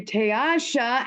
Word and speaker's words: Teasha: How about we do Teasha? And I know that's how it's pronounced, right? Yes, you are. It only saying took me right. 50 times, but Teasha, tell us who you are.